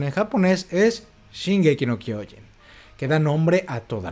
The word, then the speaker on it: Shingeki no Kyojin: bien El poder del titán de ataque cuya pronunciación en japonés es shing K no kyen que da nombre a toda la obra El